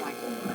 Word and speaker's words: Mikel: What you gonna It's Mikel, but he pronounces it Michael.